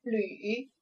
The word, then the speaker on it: 履: 第三个字读作履，组词为鞋履或者是履历。